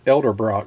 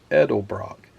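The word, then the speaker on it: Edelbrock: Ed edel Brock I I've always said Elder Brock but it's not Elder Brock it's edel Brock there's the smooth edel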